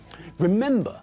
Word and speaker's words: remember: to visiting not visiting remember has got three syllables but again the stress is not at the end of the word but in the middle